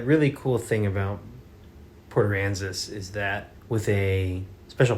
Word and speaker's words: Aransas: Did I pronounce it correctly? I think so. Aransas. It's Port Aransas.